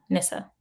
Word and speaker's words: Nisa: my girlfriend from college, Nisa Leader. We're going together. Awesome. I think I said her name wrong. Nissa. That's how you say it.